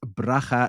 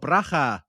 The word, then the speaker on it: Bracha: Her name is Bracha Goetz. Hi, Bracha. Thanks for joining us. Hello, thank you so much. I'm so pleased to meet you. Thank you for the way you pronounce my name. Oh, Bracha.